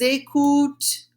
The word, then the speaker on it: écoutons: Nous écoutons. Nous écoutons. That ONS is not pronounced ONS in English. It's only a different way of pronouncing it. It's in French, right?